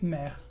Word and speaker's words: mère: Es como la E que usamos en la palabra comer. Entonces, ¿nos puedes dar un ejemplo en francés de una palabra que se pronuncia con la E?